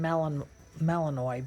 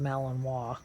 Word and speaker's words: Malinois: you had talked about the Malinois you're saying melon Malinois but it's it is pronounced Malinois it's a French you know it's a they're